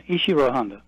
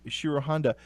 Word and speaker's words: Ishiro Honda: But of course, your book about is it Ishiro Honda? Is that how it's pronounced? Yeah, Ishiro Honda. Ishiro Honda.